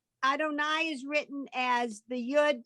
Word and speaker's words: Adonai: So all these three things are pronounced Adonai.